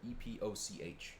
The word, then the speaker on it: epoch: that was when time started it's called unix epic time unix epoch time e-p-o-c-h epic epoch however you want to pronounce it this is a common